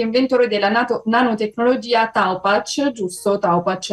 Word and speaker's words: Taopatch: Taupach è la pronuncia giusta, non volevo sbagliare qua.